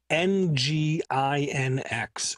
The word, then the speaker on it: nginx: ago i ran across n g i n x or pronounced nginx where if you're from